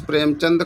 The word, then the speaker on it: प्रेमचंद: तो प्रेमचंद्र, दा में रा नहीं है, चंद होता, प्रेमचंद। ठीक है, point should be noted, important है क्योंकि हम लोग चंद्र पढ़ते हैं, चंदन है ना, इसीलिए